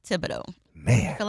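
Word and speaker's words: Thibodaux: cun my wife is a miselle and a Tibido which is I don't can you even spell I don't even know how to spell Tibido I do I told you I went to college in Tibido Louisiana that's right how do you spell it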